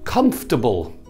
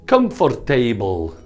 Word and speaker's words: comfortable: know it's vegetable vegetable comfortable this is not comfortable okay comfortable comfortable stressed Kumpf comfortable a classic the capital